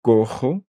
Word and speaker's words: cojo: C'est tout un processus pour apprendre des nouvelles prononciations. Caja, una caja, un coffre. Une boîte, cojo, boiteux.